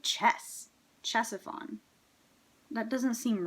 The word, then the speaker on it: Ctesiphon: Okay, it just sounds like the C is completely just ignored.